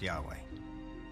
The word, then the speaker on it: Yahweh: According to one account, Abraham knew God by his intimate personal name, conventionally pronounced Yahweh.